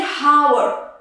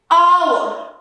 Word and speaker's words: hour: Now, the second point is H is not pronounced at the beginning of many words. So before these two letters, O and E. For example, here we're not going to say hour.